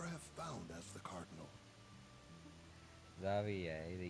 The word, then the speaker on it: Xavier: himself, he pronounced it Xavier. Yeah, he pronounced it Xavier himself, and we were like, oh, okay. So that's how he pronounces his name.